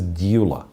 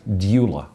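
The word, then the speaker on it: Gyula: but pronoun pronounced as dula have no explanation no it starts with g g yeah but you pronounce like d d d yeah so it's g g y and it's pronounced like d doula for whatever reason i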